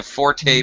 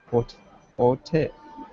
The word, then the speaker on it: forte: Forte. Okay. Forte. Okay. Forte. But it's only pronounced with that long E sound, forte, when it pertains to music.